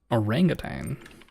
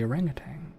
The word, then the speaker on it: orangutan: Orangutane? A medical journal has published a startling new theory about last year's sudden shocking extinction of the orangutang or I feel like I'm pronouncing that wrong, orangutan.